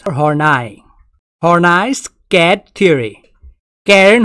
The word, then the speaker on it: Horney: the pronunciation is horny or nice cat theory karen harnai also known as horney's